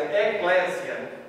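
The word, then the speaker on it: ekklesia: igreja igreja é uma palavra que se chama eclécia com K escreve como se pronuncia Eclésia e Eclésia significa apenas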